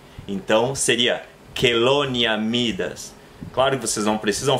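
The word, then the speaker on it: Chelonia mydas: Ele se pronuncia como que. Então seria Chelonia midas.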